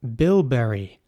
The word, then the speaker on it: bilberry: Next up, bilberry. Bilberry is spelled B-I-L-B-E-R-R-Y, and I will say it once more, bilberry.